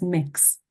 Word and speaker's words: Mx: um which is called MX and that is pronounced as mix very very simple um